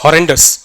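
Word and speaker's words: RNDIS: it implements something called R ndis and the way to pronounce is horrendus so basically ethernet over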